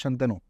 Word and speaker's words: Shantanu: So the way my name is pronounced is Shantanu. Yes. Maharashtrian, but Hindi-speaking people always pronounce it as Shantanu. So Shantanu and Shantanu.